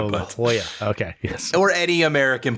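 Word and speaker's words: La Jolla: Feel free UK podcasters to pronounce it Legola if you want. I don't we don't care about that either. What are you pronouncing? Legola. I was thinking of La Hoya, California. La Hoya.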